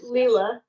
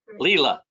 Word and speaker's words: Lila: Am I putting the emphasis on the right syllable? It's Lila. Lila.